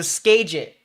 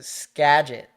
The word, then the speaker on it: Skagit: Best way I think of that example is either New England accent or it's like scab without the B. So skagit. Like gadget, but you add the SK.